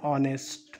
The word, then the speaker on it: honest: H is silent here.